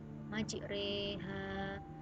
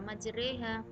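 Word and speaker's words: مجريها: contoh-contoh bacaan ghorib Bismillahirohmanirohim majreha walaupun ini tulisannya majroha tapi dibaca majreha Nah tak Man nah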